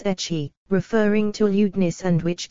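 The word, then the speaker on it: ecchi: to H and that the English pronunciation was etchy referring to ludis and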